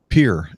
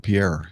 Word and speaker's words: Pierre: Like Pierre instead of Pierre in South Dakota.